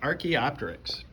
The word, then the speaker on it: Archaeopteryx: of the head of an ancestral bird it's pronounced archaeopteryx and archaeopteryx is in the hall of fame